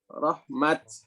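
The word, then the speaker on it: رحمة: Makanya ketika bacaan kita kalau wakaf di ulaika yarjuna rahmah, bacanya apa? Rahmat.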